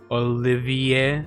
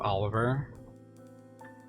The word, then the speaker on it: Olivier: Olivier. Olivier. Olivier. Olivier. What? Instead of Oliver.